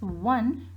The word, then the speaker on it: one: Because when we are pronouncing this one, we are not pronouncing O, we are pronouncing W, and W, wa, right?